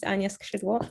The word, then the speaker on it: Ania Skrzydło: My name is Ania Skrzydło. That's how it's pronounced.